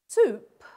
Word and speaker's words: soup: Great Vowel Shift so if we take a word like soup soup has got oou spelling but the sound ooh soup is a 17th century borrowing from French okay so we have doubt